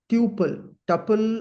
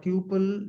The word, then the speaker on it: tuple: We call them as tuple, or tuple. Generally, people pronounce this.